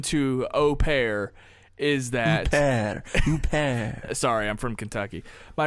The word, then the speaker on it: Huppert: The H is silent, Huppert. So basically, Isabelle Huppert. Huppert is the lame brain English way of saying it.